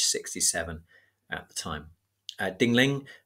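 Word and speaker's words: Ding Ling: at the time uh dingling which is spelled exactly how it sounds I was an author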